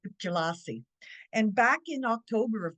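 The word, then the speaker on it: Pjila'si: l a apostrophe SI that sounds pronounced jelassi and it means welcome however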